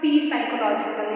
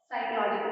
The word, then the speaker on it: psychological: ये पता है कि इस स्पेलिंग में P is silent, ठीक है, P silent है, इट्स नॉट P साइकोलॉजिकल या कुछ और, साइकोलॉजिकल है।